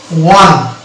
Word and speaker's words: one: এই যে এখানে ওয়া, ওয়ান, ও ওয়া ওয়ান, এই যে ওয়ান হচ্ছে এই এখানে না উচ্চারণ হচ্ছে ও, না হচ্ছে ওয়া, এটা হচ্ছে ওয়া।